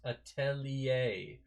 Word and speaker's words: atelier: yeah like right it's a french word attended ending in er so it should be a pr uh pronounced atelier or whatever i'm